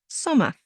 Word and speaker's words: Sommer: But again, the ER at the end sounds like a. Sommer.